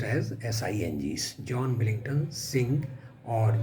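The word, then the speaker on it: Synge: born author and his name is John Millington Singh s-y-n-g-e is pronounced as s-i-n-g's John Billington Singh or J M Singh now John Willington Singh was born in 1871.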